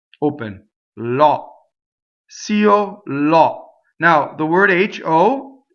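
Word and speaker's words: così: Cio, io, two separate syllables, right? We usually only have one note because this is considered a one-syllable word. Remember, it was organized by Italians, right? Okay. Io, and there will almost every composer will write one note for this word, and you have to sing two notes.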